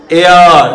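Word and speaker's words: heir: ঠিক একই রকম করে দেখো, খেয়াল করো এটার উচ্চারণ এয়ার নট হেয়ার, এয়ার মানে উত্তরাধিকারী, ঠিক আছে, উত্তরাধিকারী। তাহলে সি অনেক এখানে কি বললো? সি ইজ এয়ার অফ the property, এই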